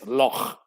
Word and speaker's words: loch: Clear your throat when you say loch for accurate pronunciation. Yes, loch. Yes, you got to have some phlegm in a solid loch.